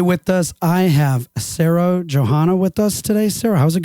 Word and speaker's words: Johana: Is it Johana or is it pronounced differently? Yeah, it's Sarah Johana.